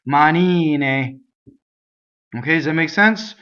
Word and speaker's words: manine: And this is actually a good combination of two words for single consonants, right? Manine, manine, right? So, mistakes, I hear manine, right? Double N's everywhere.